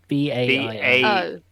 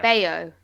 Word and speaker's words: Baio: And Scott, is it Bao? Bao? Bao? I think it's Bao. No. Yeah, I don't know. It says Baio. Yeah. Baio. Baio. Apparently, according to the Wikipedia pronunciation guide.